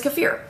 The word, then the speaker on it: kefir: you're gonna love it so first what is kaffir well as we talked about and now that we know how to pronounce it kaffir kaffir kaffir now that we